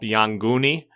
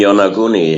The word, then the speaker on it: Yonaguni: contact with brought up Yonguni off of Okinawa? The Yonguni, the underwater pyramids, etc.? You mean Yonaguni? Yeah, I pronounce it different, yeah.